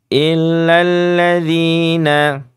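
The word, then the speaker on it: إلا الذين: memang Hamzah Qi ya illal bukan illa alladzina bukan begitu bacanya langsung ke lam jadi Hamzah wasalnya dianggap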